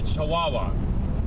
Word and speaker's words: Chihuahua: Okay, so it's Chihuahua. Okay, so it's just like a dog.